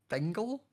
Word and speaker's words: Bingle: Like it rhymes with so much, and that's the worst thing. Bingle jingle.